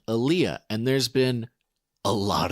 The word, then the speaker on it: aliyah: The word is, and excuse my pronunciation again, aliyah, A-L-I-Y-A. It's a Hebrew word, aliyah.